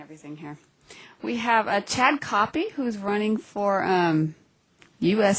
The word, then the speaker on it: Koppie: We have Chad Copy who's running for um US Senate in Illinois. Jennifer, tell us a little bit about him since you are in Illinois. And his name is pronounced Copi.